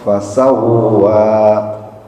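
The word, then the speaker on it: فسوى: Fasawa itu ada tasyid di dalam huruf wau. J tasnya harus dibaca kalau enggak maknanya beda nanti. Alladzi khalaqo fasawwa.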